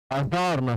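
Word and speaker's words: adjourn: एडीजे में D silent होता है।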